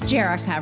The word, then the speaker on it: Jerrica: It's Jerrica, right?